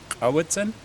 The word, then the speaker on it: Cowichan: Our valley is named, although today they mispronounce it. It's Cowichan, but we are the Halkamitinam speaking peoples of southern Vancouver Island.